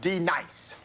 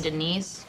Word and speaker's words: Denise: your goddamn mind now dence do you mean Denise son you say your